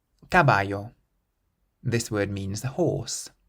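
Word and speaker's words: caballo: means socks gtin or gtin how would you pronounce the next word cabayo cabayo this word means a horse and the C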